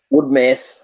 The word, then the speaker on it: Woodmass: We are here with Woodmass, who is that, have I pronounced your surname correctly? Woodmass or Woodmass? Woodmass.